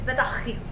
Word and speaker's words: Petah Tikva: So it's Petah Tikva. And of course, I have to sing it. Kailangan ng So- mutusolba. So you're like, how do I sing Petah Tikva?